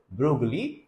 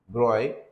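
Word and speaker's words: de Broglie: So in 1924 the French physicist Luis Victor the Brogley pronounces the Broy this not correct put forward the bold hypothesis that moving particles of matter should display a wavelike properties under suitable conditions.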